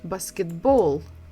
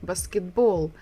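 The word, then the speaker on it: баскетбол: English we say basketball in Russian we say basketball basketball again we're stressing the final syllable the last syllable so there is no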